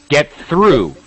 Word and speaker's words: through: very yeah that's it very very commonly pronounced um mispronounced word actually yeah you are hardly alone it's through it has the long sound through get through yes